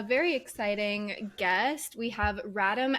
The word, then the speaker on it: Radim: We have Radim, as in Adam.